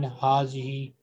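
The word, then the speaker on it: هذه: Similarly in hazihi, between ha and zal, there is an alif which is pronounced but not written.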